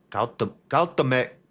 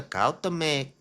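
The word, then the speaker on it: Cuauhtémoc: Cautamec. Oh, it's the Cautamec. C-U-A-U. That's too many vowels in a row. C-U-A-U-H-T-E with a little thingy thing. M-O-C. Cautamec. Oh, yes, sir. We crashed the Cautamec into the Brooklyn Bridge, which remains docked at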